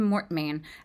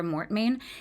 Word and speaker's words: Mortmain: So the father is named Mortmain um which is spelled m o r t m a i n in French that would mean dead hand.